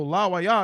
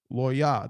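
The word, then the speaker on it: לֵוִי: So la wa ya is three, so it can't be right. This is two syllables, and these first two letters, the la and the wa, connect to form what? One syllable. So it can't be la wa ya. We have to eliminate that letter. Law. It's law. Yeah. Lawya. That's how you say Levi. That's how you say Levi in ancient Hebrew.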